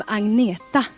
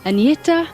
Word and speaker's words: Agnetha: Hello, I'm Agneta. I know it's very hard for you to pronounce, but you can say Agneta or you can say.